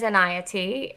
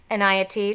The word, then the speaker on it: Enayati: my last name is in IOT and I always tell people that it rhymes with anxiety which is perfect because I do a lot with stress and self-care so Ania T that rhymes with anxiety